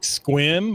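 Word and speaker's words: Sequim: Washington doesn't have strange names to pronounce like Squim or Pere, which if you read those names, that's not how they're Yeah.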